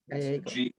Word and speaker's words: Gallego: Gallego.